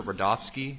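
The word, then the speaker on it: Rudofski: record special agent rodofsky that's r-u-d-o-f-s-k-i and it's pronounced Rudolph and then ski Adrian rodolski how you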